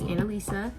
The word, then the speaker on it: Annalisa: My name is Annalisa, and it's literally spelled like Annalisa, but no one knows how to say it for some reason.